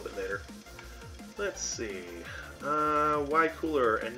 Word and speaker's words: Cooler: His name is Cooler, not Kura.